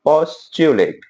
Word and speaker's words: Postulate: है वो इस च्यू जब भी टी का यू के साथ पेयर बनेगा तो प्रोनंसिएशन होगा च्यू पोस्टुलेट। ठीक है? पोस्टुलेट का मतलब होता है अभी धारणा है ना?